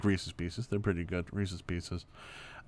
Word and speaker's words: Reese's Pieces: is pronounced pieces it's it's supposed to rhyme i literally just had